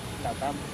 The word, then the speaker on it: LATAM: In Spanish, we call it Latam. That's it. Simple as it sounds.